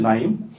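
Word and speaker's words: Naim: NA 그러면 그냥 읽으면 어떻게 되죠? 나이죠. 나임. 나임이 무슨 뜻일까요? 히히트를 드렸잖아요. 예. 네임입니다. 네임을 영국 사람들은 남임이라고 발음을 해요. 그러니까 야 우리가 우리 회사를 이름을 뭘로 할까 그랬더니 야 이름으로 하자. 근데 N이라고 하면 재미가 없으니까 Nim 이렇게 쓴 거죠.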